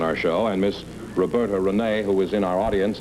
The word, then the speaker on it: Rene: John Charles Thomas, we found out about your history last week, so let's find out something about Miss Rene. Is that the way you pronounce it?